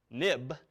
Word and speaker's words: xib: application now but also this xib file pronounced of course nib ni b for historical reasons it went as soon as the nib file became an xml file then renamed it XIB but we still say nib now notice nib or